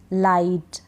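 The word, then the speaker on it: light: को नहीं पढ़ते हैं जैसे इसमें है फ्लाइट लाइट आई के बाद जी एच है नाइट राइट माइट site हाई टाइट इन सभी में आई के बाद जी एच है तो हम जीएच को नहीं पढ़ रहे हैं यहां पर इन सारी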